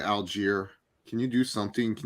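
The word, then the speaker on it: Allgeier: Come on, Tyler Aguili. He pronounced his name wrong like 30 times. It's a different pronunciation every time. Tyler Algier.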